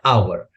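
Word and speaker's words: hour: अब देखिएगा ये हमारा है आवर। ठीक है ना? यहां पे एच साइलेंट है और इसका जो इनिशियल साउंड है आ है जो कि एक वोवेल साउंड है और इसके पहले हम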